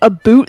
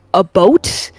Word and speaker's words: about: So I I know at the very least that the a boot thing is actually that we pronounce it more like a boat.